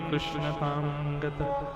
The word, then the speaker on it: कृष्ण: क्या रखा गया कृष्ण यह कृष्ण नाम लोग शुद्ध नहीं बोलते कृष्ण बोल देंगे कृष्ण बोल देंगे कृष्ण उस शब्द का शुद्ध उच्चारण बहुत कम लोग करते हैं और कृष्णा कृष्णा भगवान का नाम नहीं है कृष्णा द्रौपदी का नाम है जो लोग कृष्णा